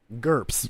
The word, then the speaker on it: GURPS: Well, the one thing that I didn't know about is what how do you pronounce it again? The G1? GURPS.